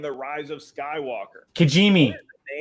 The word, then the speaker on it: Kijimi: Kijimi. Yes, it is. Not an easy one to spell, but you nailed the pronunciation.